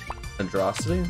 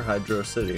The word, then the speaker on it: Hydrocity: no not sauc City saity that's how people pronounce Hydro hydrocity in Sonic bro hydrosity yeah it's so uncomfortable when people say that when people say h yosity or Hydro City hydrosity what and how does that make me